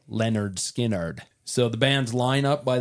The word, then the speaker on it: Lynyrd Skynyrd: and of course that first album was called pronounced Lenard skinnard so the band's lineup by that time had